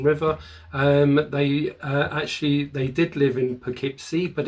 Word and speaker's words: Poughkeepsie: they did live in Poughkeepsie, but it is pronounced Poughkeepsie, not Poughkeepsie. It's Poughkeepsie.